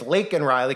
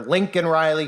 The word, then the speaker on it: Laken Riley: And of course, conveniently, the girl's name's Laken Riley. Conveniently, Biden doesn't even know the girl's name. He bumbles on the stage. He calls her Lincoln Riley, who is a football coach at the College of USC, college football.